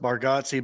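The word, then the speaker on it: Bargatze: just not easy yeah i've heard it pronounced bargatsi bargatsi so yeah nate as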